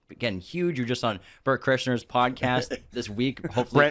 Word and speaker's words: Bert Kreischer: That people always mispronounce his name, so they call him like Brent Chrysler or Burnt Krishna.